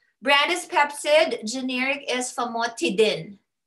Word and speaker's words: Famotidine: Did you hear what I said? Tidin. Tidin. Not dine. Okay, I always say, oh, you know, pronounce it as how we'd say it. But for drugs, we don't do ines. We do in.